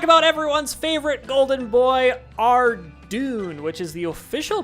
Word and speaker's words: Tirannwn: Let's talk about everyone's favorite golden boy, Tirannwn, which is the official pronunciation, by the way.